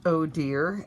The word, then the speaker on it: Odir: with you guys today oh dear is pronounced oh dear as in oh dear I will let you